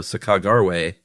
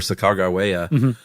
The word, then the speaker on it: Sacagawea: and Clark fame spelled it s ah k ah emp empasis on that g a ra. So sakagarwe or sakaga but then the